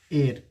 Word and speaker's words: heir: अगर दूसरा वर्ड हम लिखें जैसे कि HEIR, क्या इसे हेयर पढ़ेंगे? नहीं, इसका प्रोनाउंसिएशन होगा एयर। क्या होगा? एयर। इसका प्रोनाउंसिएशन होता है एयर।